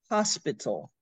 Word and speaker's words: hospital: a little trouble understanding hospital hospital yes you have to be sure and have the s Hospital yes and the the accent is really on the first part of the word Hospital mental hospital and the